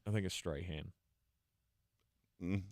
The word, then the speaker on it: Strachan: a straight hand um there's a c in it so it's either Strachan or Strachan uh if you want to be straight hand take the C out spell your name right if you want me to pronounce it that way uh but I did